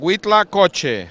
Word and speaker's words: Huitlacoche: It's called Huitlacoche. That's how you pronounce it.